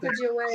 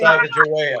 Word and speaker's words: Sacagawea: The answer was Lewis and Clark, and how do you pronounce that? Sacagawea. Sacagawea.